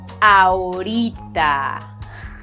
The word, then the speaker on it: ahorita: How would you pronounce ahorita if you wanted to be taken seriously? Tuk, tuk, tuk, tuk, tuk, tuk. If you said ahorita, you got it?